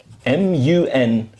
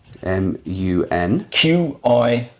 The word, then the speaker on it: Munqidh: Syrian knight who fought the Crusaders, Usama ibn Munqidh. Okay, we've got to spell that out for us. Usama, like Osama. Ibn, I-B-N. I-B-N. M-U-N-Q-I-D-H. M-U-N. Q-I-D-H. Q-I-D-H. How do I pronounce that again? Usama ibn Munqidh.